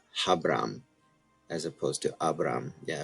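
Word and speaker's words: Ἁβραάμ: This is a rough breathing mark. So really, it'd be Habram. Habram is the way that would be trans or pronounced.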